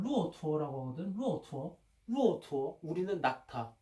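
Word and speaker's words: 骆驼: 봐, 예를 들면 이 타자는 그 중국 발음으로는 루오투어라고 하거든.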